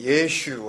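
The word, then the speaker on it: ישו: 예수가 나온 거예요 어 좀 더 정확히 발음하면 이제 예슈 하죠 그래서 그 마태복음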